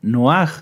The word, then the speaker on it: Noaj: Recuerdan que hace 8 días estudiamos la parashá Noaj, la parashá Noé. ¿Quién se acuerda cómo era la pronunciación correcta de Noaj?